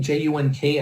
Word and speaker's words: Junk: My name, J-U-N-K, as you can see, is basically pronounced Junk.